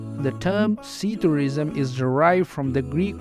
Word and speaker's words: psithurism: word to describe them see tourism the P at the beginning of sea tourism like many other words beginning with PS is silent and the word is pronounced as seed or Reason the term ceterism is